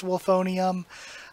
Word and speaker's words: Wolfonium: But the kanji for it is Wolfsteel, even though I know it's supposed to be pronounced Wolfonium.